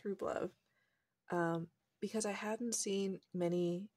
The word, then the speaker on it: Rublev: make a video about Rublev watercolors, which I'm not sure how to pronounce. I think it's Rublev.